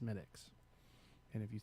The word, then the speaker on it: Smithwick's: You can say Smithwick's Once. one time. Okay, and then we properly and politely tell you it's actually pronounced Smittix.